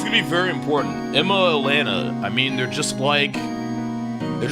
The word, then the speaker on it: Lana: Emma, Lana, I mean, they're just like what? She's 16. She's actually 15. Lacari pronounces every single name wrong. Suck my fucking cock, asshole. How about that? Lana. Okay, it's Lana.